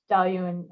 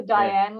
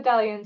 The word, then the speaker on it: Dailuaine: I mean, I couldn't pronounce it for the first 6 months. Well, there's a sneaky little I in there, isn't there? Yeah, I know. I used to call it the Dailuaine whiskey.